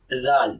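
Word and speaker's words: ذال: So zal. This is zal. This is Zal. Repeat after me. Okay, this is zal. Zal.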